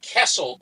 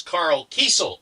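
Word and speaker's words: Karl Kesel: the the artist, his name is is not Kessle, it's Carl Kel is how his name is pronounced. Carl Keiesel.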